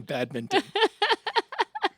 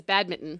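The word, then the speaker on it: badminton: It is the object that is struck back and forth in bad minton. That's right. It's bad minton, isn't it? It's bad minton. Everybody, including myself, says bad mitten. Yes, like it's a bad mitten.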